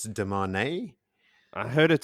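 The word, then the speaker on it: Demandred: of quick ones um we've been pronouncing deand the wrong way deand is not the way that you pronounce it it's de man I heard it spelled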